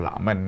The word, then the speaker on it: Luckman: Nama Fuidi Lukman ini kalau baca ya Lakmen ya.